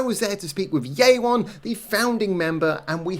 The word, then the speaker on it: Yeawon: Yeawon. Yeawon, okay. Right. I'm really bad at pronouncing things in Korean, so...